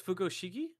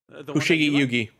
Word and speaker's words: Fushigi Yugi: So is Fugoshigi? Fushigi Yugi. Fushigi Yugi. Fushigi Yugi. I apologize for mispronouncing that as well as mispronouncing that.